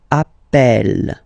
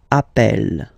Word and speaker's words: appelle: You tend to pronounce it like E, E, really open. That's the reason why you pronounce it appel, appel, okay?